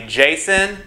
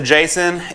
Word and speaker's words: Jasion: you know so yeah this right here is the Jason ebike I'm pretty sure that's how you say it Jason um this is non-sponsored